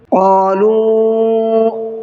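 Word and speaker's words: قالوا: ہے اس کو بھی۔ قَالُوا کے واو کو تھوڑا سا کھینچ کر کے پڑھنا ہے کیونکہ اس پر چھوٹا مد ہے۔ آمنا، نون پر تشدید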